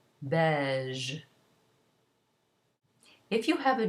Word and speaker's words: beige: As for a G, if it's followed by E or I, it's pronounced zh, as though it were ZH in English. For example, beige.